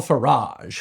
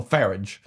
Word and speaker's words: Farage: This is Nigel Farage, whose name rhymes with garage. Unless you're British, and then his name would be Nigel Farage.